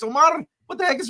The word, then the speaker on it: Omar: It's not really Omar, it's Omar.